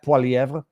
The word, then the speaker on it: Poilievre: Poilievre, and Karina Gould, maybe learn how to pronounce his last name just out of respect, Pierre Poilievre.